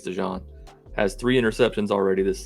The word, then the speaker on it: DeJean: attempts their defensive back Cooper to John I believe that's how you say it I saw somebody say DeJean I think it's DeJean has three interceptions already